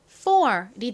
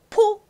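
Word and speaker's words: four: 쓰 아니고요 3 좋습니다 다음 는요 요렇게 씁니다가 프 소리가 나죠 그냥 피읍 소리보다 더 센 쌍비읍 가까운 소리가납니다 쓰 그리고 뒷부분은 or 소리가나요 or 그래서 발음해 보면 4이 됩니다 포 아니고요 따라해 보세요 4 4 좋습니다이 앞에가 강한 소리가 난다라는 거 잘 기억해 주세요 다음도 마찬가지로 F 왔어요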